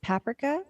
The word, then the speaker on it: paprika: Actually, was really surprised when I went to Europe and I tried, as they pronounce it, paprika, not paprika, chips, and I was like, wait, this is just barbecue chips.